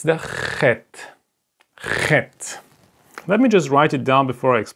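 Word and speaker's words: חית: This is exactly the pronunciation of chet. You listen? Like ha.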